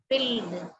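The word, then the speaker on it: build: பாருங்க இதை எப்படி படிப்பீங்க எது சைலெண்ட்டா இருக்கலாம் இதுல பில்ட் ரைட் பில்ட் எது சைலெண்ட்டா இருக்கலாம் ஐ ஐ இல்லை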